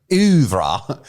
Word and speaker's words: oeuvre: For once in the Streaming Things oeuvre, as Cruella would say, we promised something.